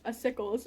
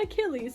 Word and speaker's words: Acycles: my first interaction with a sickles was me dming him on Discord to ask how to pronounce his name it's not Achilles Like I thought it was it's a sickles um the acycles patient